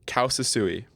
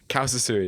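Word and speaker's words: causa sui: It's called Kausasui, and it's Latin. Kausasui. Kausasui. I had to look at the pronunciation.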